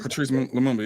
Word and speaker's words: Patrice Lumumba: I think it's Patrice Lumumba? Yeah, Patrice Lumumba, yeah.